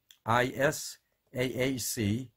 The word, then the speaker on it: Isaac: in the tours and then learn how to pronounce those two words how about people names let's think about these three names is AAC and mos es and MC and ABB you